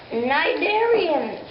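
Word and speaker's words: cnidarian: facts about invertebrates and that invertebrate will be nigarian which is spelled c n i d a r i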